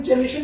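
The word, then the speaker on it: chelation: हैं उसे हम आयरन चेलेशन उसे बोलते हैं, या आयरन चेलेटर्स बोलते हैं। आयरन चेलेशन भी एक ही शब्द है, प्रोनाउंस करने के दो अलग तरीके हैं, दोनों ठीक है।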